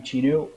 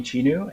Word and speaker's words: Cheenu: i'm pronouncing you okay yes yes you're actually pronouncing it correctly good smell yourself yes yes yes so hey everyone i'm chino my real name is but uh all my friends colleagues call me chinu and if you want to know my real